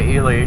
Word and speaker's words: Ely: Even though, if that's a person's name, you say Eli. But apparently the town is called Ely, Nevada. So the thing about places is the people that live there get to tell you how to pronounce it.